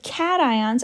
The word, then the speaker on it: cation: the negative ions so cations are positive ions and so this is not pronounced cations this is pronounced cat ions like a kitty cat right um so don't